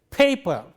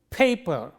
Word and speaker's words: paper: And therefore, how do we say this? We say paper. Listen, paper. When we say that, this is aspirated P, whereas this is unaspirated P.